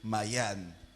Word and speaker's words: Mayane: Donc j'ai envie de dire Mayenne. Mais on va essayer de prononcer en français Mayane. Ok, on va dire Mayane.